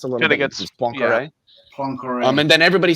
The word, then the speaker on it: Poincaré: gets- It's Poincaré.